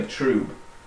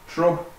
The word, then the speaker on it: trub: A nice layer of trub forming on the bottom. I say trub, some people say trube. It's more the Americans say trube, but think trub and pub. That's what it should be. You know, trub, you go drinking in a pub.